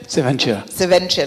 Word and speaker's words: Seventure: Seventure, like Accenture, Seventure.